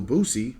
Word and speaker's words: Boosie: underside a lot and little boosie rhymes with that and nowadays people are